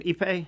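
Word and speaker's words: Ippei: Epipe.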